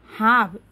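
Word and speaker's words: half: N double নিত silent letter কে আমার কেতুর উচ্চারণ ন হয় হাফ এইচ এ এল এফ হাফ এ হাফ হব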